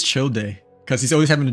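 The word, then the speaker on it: Childe: No, it's chill day.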